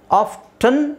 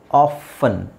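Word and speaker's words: often: ಮಾಗೇಜ್ ಇದು ನಾನು ಹೇಳಿದ್ನಲ್ಲ ಆಫ್ಟನ್ ಅಂತನಾದರೂ ಹೇಳಬಹುದು ಆಫನ್ ಅಂತನಾದರೂ ಹೇಳಬಹುದು ನಾನು ಆಫನ್ ಅಂತ ಹೇಳೋಕೆ ಟ್ರೈ ಮಾಡ್ತೀನಿ ಇಷ್ಟ ಪಡ್ತೀನಿ ಯಾಕೆಂದ್ರೆ ಎಕ್ಸ್ಟ್ರಾ ಯಾಕೆ ಒಂದು ಅಕ್ಷರ ಅದರಲ್ಲಿ ಹಾಕೋದು ಆಫ್ಟನ್ ತುಂಬಾ ಜನ ಆಫ್ಟನ್ ಅಂತ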